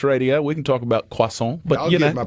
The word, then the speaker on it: croissant: It's not croissant as Gerard Butler says, and he gets a nice little schooling from a French man that tells him no, it's croissant.